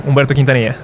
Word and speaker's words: Humberto Quintanilla: By the way, good pronunciation, that's my name, Humberto Quintanilla.